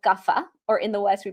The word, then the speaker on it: Kapha: The third one is called Kapha, or in the West, we pronounce it Kapha.